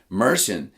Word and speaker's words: Martin: Apparently, in some Irish dialects, and somebody please check me on this, Mershon is how the name Martin can be pronounced.